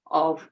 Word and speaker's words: of: The other one, which has one 'f' is pronounced like a 'v': /əv/ and a very